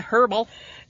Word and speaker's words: herbal: Didn't get the herbal. Okay, herbal or herbal? I don't think it's herbal. With a silent H.